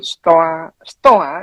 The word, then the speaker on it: Stoa: Sebetulnya stoa atau stoik atau memang pengucapannya stoa.